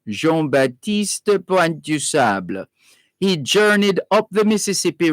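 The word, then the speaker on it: Jean Baptiste Point du Sable: known as jean batista jean baptiste puente du sable that would be the french pronunciation jean-baptiste point du sable he journeyed up the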